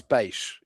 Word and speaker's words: peixe: 15 years ago, where in Pico they say bush, but in Terceira I say peixe. And they go, it's not peixe, it's bush. And I'm like, I don't say it like that. I say it this way, and you guys say it wrong. No, yeah, so, you're closer. It's peixe.